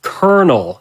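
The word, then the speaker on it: Kernel: I brought up X4 that guy's name was Colonel except it's spelled like uh uh computer term you know k-e-r-n-e-l I I see what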